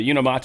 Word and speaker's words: Unimate: The Unimate. I actually found out that is how you pronounce it. It is unimate.